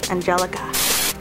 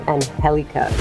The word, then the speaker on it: Angelka: I did not know her name was spelled Angelka, pronounced that way. Angelka. Angelka. A-N-G-E-L-K-A.